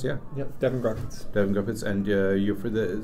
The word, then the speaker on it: Devon Grodkiewicz: Is that correct pronounced? Yeah. Yep, Devon Grodkiewicz.